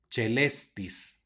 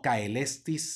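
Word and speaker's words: caelestis: palabra otra vez aparece el diptongo ae antecedido de una c que va a sonar como Che por lo tanto se pronuncia celestis no cae lestis sino celestis la siguiente palabra con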